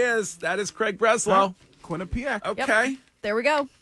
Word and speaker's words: Quinnipiac: Not the question that I thought I was going to get asked this morning, but I believe that you are talking about Quinnipiac.